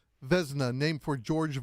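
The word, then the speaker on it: Vezina: All right, Andrew, how do you pronounce the award again? It's what? Vzna, named for George Vzna.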